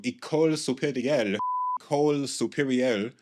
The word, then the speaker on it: École supérieure: This Bachelor of Science in Applied Psychology from École Supérieure, Euro, can't pronounce that shit.